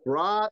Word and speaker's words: brought: 그럼 brought 이렇게 될 거예요. 브라. 이렇게. 예, 입술 모양은 오로 하고 아를 생각하시면 돼요.